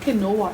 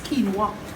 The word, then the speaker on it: quinoa: much like quinoa it's it's spelled different to how it's pronounced in the Caribbean we was taught to pronounce our words differently but it's not kinoa it's quinoa so guys I know